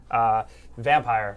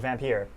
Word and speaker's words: Vampyr: This code is for one of my favorite games right now still, Vampyr or Vampyr. People tell me that I say it wrong, but technically both ways are actually correct.